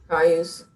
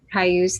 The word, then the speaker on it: Cayuse: So arts and events, Arts Commission, Jansen Beach Carousel, Memorial for, I don't know how to pronounce the name of that tribe. I apologize. Cayuse. Cayuse, thank you.